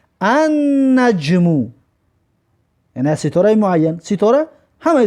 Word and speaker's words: النجم: مثلا ببینید که نجمون ستاره، وقتی که الف لام قوشش کردیم نمیگیم که النجمو، نمیگیم لام تلفظ نمیکنیم، میگیم که النجمو، یعنی ستاره معین.